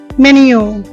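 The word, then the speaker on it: menu: মেনু। এটা সঠিক উচ্চারণ হবে মেনিউ।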